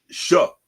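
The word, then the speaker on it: Shough: And Tyler, how do you pronounce this man's last name? Tyler Shuck? Shuck.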